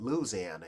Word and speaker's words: Louisiana: from where I live we we call it Louisiana here y'all call it Louisiana but here they used